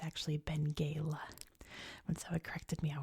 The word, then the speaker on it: Benguela: So I see this and I see Benguela, but it's actually Benguela. When someone corrected me, I was like, oh, of course it is, obviously, because they speak Portuguese in Angolan. So my bad. This is Benguela.